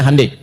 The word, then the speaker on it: Hyundai: Ya, Hyundai. Saya tahu bahasanya dibacanya Hande ya.